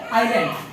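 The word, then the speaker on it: island: क्या है I learn S क्या होता है साइलेंट क्या होता है कभी क्या करते हैं क्या पढ़ते हैं आइलैंड तो इसमें जो है इंडोनेशिया में 1000 छोटे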